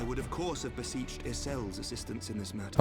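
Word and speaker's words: Ysayle: I would of course have beseeched Isel's assistance in this matter. Oh, Isel is how her name is pronounced, okay.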